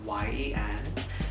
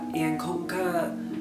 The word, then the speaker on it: Yên: It is Vietnamese, and in Vietnamese, the Y is pronounced like E. So that's why it's pronounced like Yên and not Yen. So just so y'all know, it's not Yen, it is Yên.